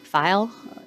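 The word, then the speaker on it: Feil: File. F as in Frank, EIL, File, rhymes with smile.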